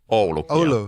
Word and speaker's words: Oulu: Is it pronounced Oulu? Oulu.